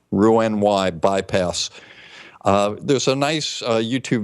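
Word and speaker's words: Roux-en-Y: offer now the first one is called the Rue on why a gastric bypass and this is spelled r 0 ux hyphen n hyphen and then the letter Y ruin y bypass there's a nice youtube video on this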